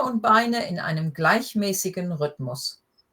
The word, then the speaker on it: Rhythmus: Halte deine Arme und Beine in einem gleichmäßigen Rhythmus. You thought I was going to get rhythmus wrong there, didn't you? You remembered it was a German spelling or German pronunciation?